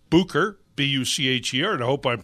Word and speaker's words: Bucher: Bucher, B-U-C-H-E-R, and I hope I'm pronouncing your name right, Mark. Yep. All right, great. Mark Bucher. It's the German pronunciation there.